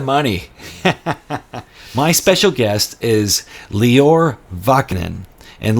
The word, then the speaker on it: Lior: my special guest is lior vachnan and leor it's spelled l-i-o-r it's pronounced just like Christian Dior the brand so it's lior bachnan